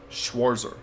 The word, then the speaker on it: Schwarzer: Schwarzer. Now we know how to pronounce yes, his name.